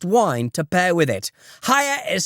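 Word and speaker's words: Haier: Hire is spelled H A I E R.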